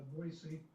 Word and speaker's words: Boise: 40 miles Southeast of boisey and if you ever come here and you don't want to be recognized as a tourist pronounce it Bo c not Z useful information yeah and